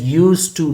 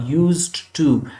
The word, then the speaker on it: used to: D is written but it is not read or pronounced. It is used to, not used to.